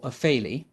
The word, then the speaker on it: Offaly: Shannon, which is Ireland's longest river, in County Offaly, or Offaly, and it was founded in 544 by a chap called St.